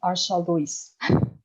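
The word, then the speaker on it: Arshaluys: So my name is pronounced with sh. It is Arshal Luis.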